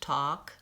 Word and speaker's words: talk: it up in words talk and walk we don't say the L sound even talking walking that's right the L is silent it's it affects how I say the vowel sound talk its vowel oo but